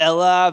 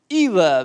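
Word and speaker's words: Elah: to botch the saying the pronunciation of this but it's like the Ella Valley Bible people here Ella Valley where David and Goliath fought Ela Valley see that's why you keep experts around because he obviously knows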